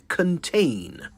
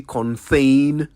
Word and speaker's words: contain: sure you also noticed how I pronounced contain c o n t a i n contain I'd have thought that was an easy enough word to pronounce but have you heard some people say Conan I wonder where they get the H sound from beats me though it's